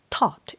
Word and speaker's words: Thoth: Thoth, it spells like Thoth. I think TH, instead of pronounce thought, it pronounced Thoth.